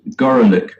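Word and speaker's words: Gorelick: the name of jamie gorlick who prefers to have her name pronounced gorolic to avoid the obvious and unfortunate metaphor but he goes up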